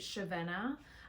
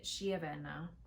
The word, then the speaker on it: Chiavenna: In the video, I say Ravenna. I looked it up. It's actually Chiavenna, which sounds so much nicer. So anytime I say Ravenna, just know that it's actually pronounced, as best I can pronounce it, Chiavenna.